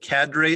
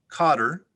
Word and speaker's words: cadre: others its highly skilled cadre of managers enabled the company to achieve great success in its first year there are several alternate pronunciations cadre cadre cadre cotter cater cadre could i have the